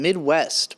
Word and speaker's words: MIDWXST: new song called shame from midwest but spelled with an x in there somewhere i'd never heard